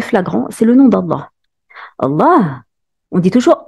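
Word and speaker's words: الله: ça veut dire que à la base ce mot ne s'écrit pas avec la prolongation mais elle se prononce toujours avec la prolongation l'exemple le plus flagrant c'est le nom d'Allah Allah on dit toujours Allah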